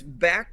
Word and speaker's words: Bakkt: I had to listen to a pronunciation because I myself was looking at it like Buck, but I'm glad we got it out of the way. It is back to the utter haha.